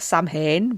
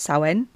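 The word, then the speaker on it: Samhain: And I feel like I should record something special for Friday the 13th and also Sen, not Sam Hayne, but Sen.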